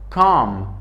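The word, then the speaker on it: comb: کام بی تلفظ نمیشه. کام به معنای شانه، شانه ای که موی را امرای شانه میکنیم. بی سایلنت است، ام تلفظ میشه.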